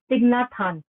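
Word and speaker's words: Thích Nhất Hạnh: It's called Thich Nhat Hanh. Thich. As if you are pronouncing it as T-H-I-G, Thich.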